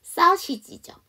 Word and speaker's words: sausage: sausage죠. 소세지가 아니고 sausage 해갖고 여기도 마찬가지로 이 발음입니다.